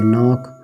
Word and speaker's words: knock: नो, उसके बाद KNOCK नॉक, इसी तरीके से आपका KNUCKLE नकल, ठीक है। तो ये सभी चीज़ें के एन के पहले के नहीं पढ़ा जाएगा शुरुआत में, ये है।